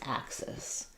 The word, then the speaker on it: axis: This axis.